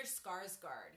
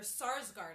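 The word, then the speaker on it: Sarsgaard: also another big actress Peter Skarsgard yeah it's spelled or sarsgard I'm sorry Peter sarsgard s-a-r-s g-a-a-r-d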